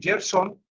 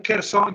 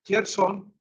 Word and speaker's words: Kherson: Aquí les voy a mostrar el lugar exactamente donde se encuentra este hotel, en Gerson, no en Kherson, ya me corrigieron, se dice Gerson, no se dice Kharkiv, sino Yar, Yarkiv.